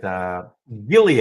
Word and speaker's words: Gilead: This is the one that had that big deal with Gilead. I remember hard G. Gilead.